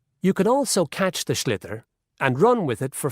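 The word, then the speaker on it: sliotar: this ball called a schlitter that's s l i o t a r so it's not spelled the way it's pronounced announced you hit it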